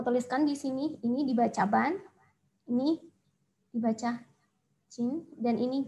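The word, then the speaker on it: 반: Bacanya adalah ba. Nah, tapi di sini kita mau membuat kata ban.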